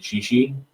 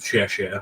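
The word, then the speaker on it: 谢谢: So we have become accustomed to whenever somebody does anything for us, just saying "xi," which is a very poor pronunciation of "xie xie," which is thank you in Mandarin, I think.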